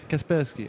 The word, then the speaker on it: Kaspersky: Yeah, Kasperski.